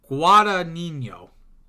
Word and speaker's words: Guadagnino: Luca Guadagnino. Because GN in Italian is more like nyeh.